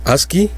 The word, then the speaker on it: ASCII: la tabla de caracteres a sc y se pronuncia aquí es un acrónimo inglés de american standard code